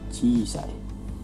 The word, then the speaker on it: 小さい: 4番 wa この衣装は何々です。この衣装は何々です。これは何と読みますか？Yang pertama, 小さい。Yang mana? はい。一番ですね。はい、これは一番です。Perhatikan perbedaannya. Jadi walaupun nomor 2 juga cisai, tapi kan nomor 2 ini setelah ci tidak ada i-nya, jadi yang benar itu cisai.